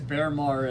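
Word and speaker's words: Baermar: That's the one I struggle with because Bearmar is how you pronounce his name.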